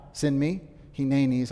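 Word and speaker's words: הנני: Hineni is how you say that in Hebrew.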